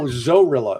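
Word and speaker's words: Zorrilla: No, Zorilla. It's spelled like gorilla but with a Z.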